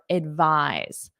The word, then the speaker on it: advise: practice with the verb advise first of all pronunciation the noun is advice advice the verb is advise v v v notice that voice advise advise repeat that